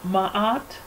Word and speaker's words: Maat: So Maat, pronounced Maat, corresponds to the faculty within man wherein is